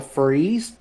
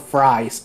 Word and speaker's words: Fries: in my area is called a freeze, but they spell it completely wrong, hmm and it's spelled fries, and I just can't stop laughing about it because someone was reading the counties and they go Fries, Virginia, and I'm like, no, wrong, wrong, wrong, wrong, you wrong. do. I'm like, you do not call it fries.